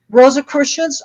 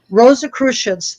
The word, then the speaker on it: Rosicrucians: check them out they're they how do you pronounce it again rosa christians r o s i c r u c i a n like i'm in a spelling test here okay rosa christians they're worldwide i'll have to check it out